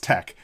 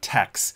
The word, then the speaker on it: TeX: By the way, I think it's pronounced tech, not tex.